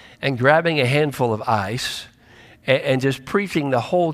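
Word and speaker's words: εἰς: accomplish that word for it is the word ice you spell it eis but it really is more like ice ice which means to accomplish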